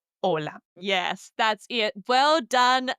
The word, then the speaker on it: hola: And number 3, the H, the H in Spanish is silent. Don't say again hola, say hola.